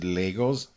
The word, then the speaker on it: Lego: what uh like the Lego movies the Lego video games are always incredibly clever y i I love Lego or if you're listening in America you guys pronounce it Legos what Legos we go Lego Lego